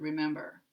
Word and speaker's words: remember: And here we have three, where the middle syllable is the primary stress syllable in the word remember.